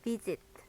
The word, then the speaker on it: visit: 끝에 티귿 발음이 살짝 나요. visit.